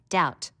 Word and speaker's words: doubt: silent in the word you should learn how to spell doubt notice the silent B foreign a g that